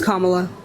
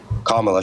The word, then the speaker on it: Kamala: do you pronounce Sor it's kamla kamla sure sure okay so